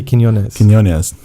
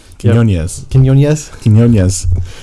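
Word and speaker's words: Quiñones: I say his name wrong. Frankie Quinones. Quinones.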